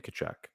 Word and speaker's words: Tkachuk: Is it a silent K or is it a silent T? I think it's a silent T. Okay, so Matthew Tkachuk. Yeah. That does sound better.